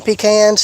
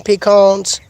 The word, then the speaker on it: pecan: I know there's an ongoing debate of how they should be pronounced. Some people call them pecans. Some people call them pecans. I just call them both.